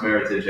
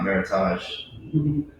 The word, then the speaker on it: Meritage: the end of october it is pronounced meritage alexite not meritage i'm not always saying meritage